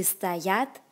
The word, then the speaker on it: стоят: Remembering to put the stress on the second syllable or the word for to stand, we get люди стоят в очереди.